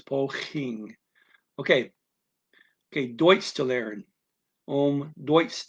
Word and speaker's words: poging: a Dutch G, but that second G after the N, at least in his dialect, they pronounce it NG the same as an English person. So it's poging. You don't go poging. You don't put a little hitch there.